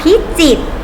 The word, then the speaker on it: พิจิตร: อ่า ต่อ บาท ค่ะ จังหวัด พิจิตร จอ อิ ตอ จีบ จังหวัด พิจิตร สังเกต นะ คะ ต้อง เขียน ไว้ นะ แต่ เวลา อ่าน จะ ไม่ ออก เสียง พยัญชนะ ตัว ที่ คุณ ลิขิต นั้น ใต้ นะ คะ ต่อ ไป